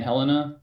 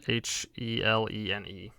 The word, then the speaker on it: Helene: Hurricane Helena. Was that it? Helene. L-E. Hang on, spell that again.